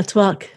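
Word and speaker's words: tvak: Cinnamon is absolutely one of my favorites, and it's called, tavak in Ayurveda. Is that how you say it? Yeah, twak.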